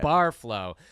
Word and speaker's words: Barreflow: yeah she is the owner and creator of bar flow I pronounced that right right you got it bar flow Carly went on to create this program teaching